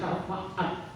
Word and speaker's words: syafaat: Ya, syafaat itu artinya, kalau bahasa Arab itu di antara A dan T itu ada titik atau kemana di atas dibacanya syafaat gitu ya.